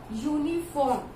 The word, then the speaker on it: uniform: Similarly, this uniform, this is pronouncing like YUNIFORM.